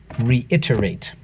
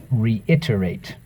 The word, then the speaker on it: reiterate: arrow back y excellent because in this case the silent e makes the a say a the e can say